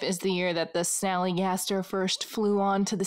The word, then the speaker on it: Snallygaster: for good measure sally gaster is actually a mispronunciation of a german word schnelegeista which is itself a corruption of the german term schnelligeist meaning quick or fast spirit yeah or fast ghost fast